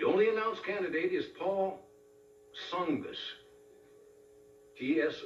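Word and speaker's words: Tsongas: announced candidate is Paul suus TS o n g- a s the t is silent right Paul suus came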